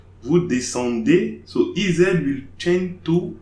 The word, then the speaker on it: descendez: EZ at the end of the verb will be pronounced A, like English alphabet A.